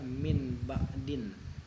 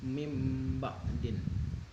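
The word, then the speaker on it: مِن بَعْدِ: Jadi misalnya mim ba'di, awalnya min ba'din, dibacanya mim ba'din. Nunnya nggak dibaca, jadi dibacanya min. Dibacanya mim, bukan min.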